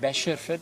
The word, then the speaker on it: Bashford: that's what the skips there for I said Bashford he's Bashford uh I must pronounce his surname properly uh but he has